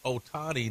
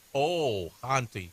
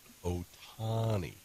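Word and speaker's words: Ohtani: a lot of hate this morning bro it's pronounced Otani not oh HTI hey they connect it's so I'm supposed to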